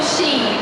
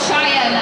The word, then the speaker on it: Shein: I got my shoes from Shein or Cheyenne. Everyone pronounces it differently. Shein, yeah, that's how I say it.